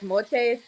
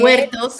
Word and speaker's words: Muertos: because when they did like Dia de los Muertos, I pronounced it wrong. When they did the Day of the Dead, Muertos.